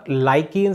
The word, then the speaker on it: lichen: जो natural indicator है litmus, वह लाइकेन से प्राप्त किया जाता है, लाइकेन, ठीक है। स्पेलिंग में लिचन कहते हैं इंग्लिश में, LICHEN, लिचन। ठीक है, लिचन क्या है,